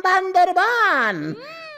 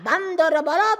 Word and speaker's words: বান্দরবান: এই জায়গার নাম বান্দরবান। উচ্চারণ ভুল করিয়া বান্দরবত বলিয়াছি।